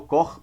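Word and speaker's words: Koch: o chamado floco de cor Qual é o sujeito que criou esse fractal que eu falo cor porque a pronúncia em alemão o sujeito alemão tá pode falar do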